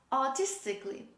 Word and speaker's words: artistically: similar example artistically artistically don't say artistically it's not artistically this is artistically say with me artistically